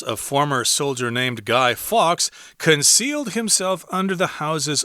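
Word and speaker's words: Fawkes: pronunciation comes out so don't let the spelling confuse you just think of the the word fox fox so the plot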